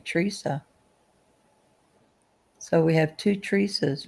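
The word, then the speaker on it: Treasa: Teresa. So we have two Teresa's now. I thought the other Teresa was T rea, right? But they both pronounce it Teresa.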